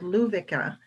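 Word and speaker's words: Lovika: of local yarn up in northern sweden called luvica it's spelled l-o-v-i-k-a and i have some i have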